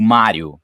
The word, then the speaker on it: Mario: se lá a conheço Mário conheço tá o personagem se personagem aqui você pronunciar Mário Luigi não Mario e Luigi isso aí já tem